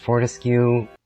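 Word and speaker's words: Fortescue: Hello people, my last name is pronounced Fortesque, and yeah, that sounded just as bad as it did in my head.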